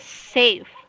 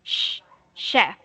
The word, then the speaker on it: chef: say safe it's just safe with the S sound safe all right sir yeah that's it so when it is chef its chef with a CH sound it see the difference Shh chef safe okay friends oh so